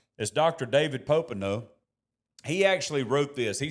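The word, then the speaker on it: Popenoe: David P um U Popo, he I was about to say his name wrong, but it's as Dr. David Popo, he actually wrote this.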